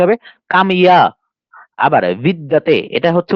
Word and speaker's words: বিদ্যাতে: আবার বিদ্যাতে, এটা হচ্ছে উচ্চারণ আমরা বাংলা করি কি বিদ্যাতে, আর যখন এটা সংস্কৃত উচ্চারণ করবো তখন কি হবে, বিদিয়াতে।